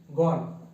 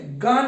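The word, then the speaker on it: gone: গো কি হবে, গো, গো went গন, গো went গন। দেখো গো ওয়েন্ট গন উচ্চারণটা ঠিক করে করবে, অনেক সময় অনেকে একটু ভুল উচ্চারণ করে ফেলে, গো ওয়েন্ট গান বলে ফেলে, গো ওয়েন্ট গন হবে কিন্তু উচ্চারণটা মনে থাকে যেন, হ্যাঁ।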